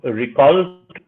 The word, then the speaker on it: Ricult: Yeah, so Ricult primarily is the middle syllable of agriculture. And if you take away the ag and the URE, we're left with Ricult.